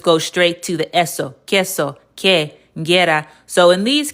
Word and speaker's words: queso: The times when it wouldn't say U, like the word room, is after a G or Q. The U is silent.